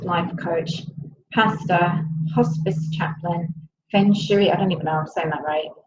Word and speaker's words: feng shui: spiritual director, soul-centered life coach, pastor, hospice chaplain, feng shui, I don't even know if I'm saying that right. How do you say that, Amanda? Feng shui.